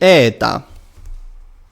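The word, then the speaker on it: ἦτα: Now, the eta is the correct one. It is a long e. In modern Greek it is ita, and it is pronounced e.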